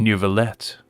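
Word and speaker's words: Neuvillette: to pronounce it so it's like a little French oomph and nouveaulette okay I like that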